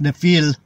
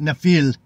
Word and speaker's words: Nephilim: the word was pronounced nefil the the m is silent nefil we we'll just call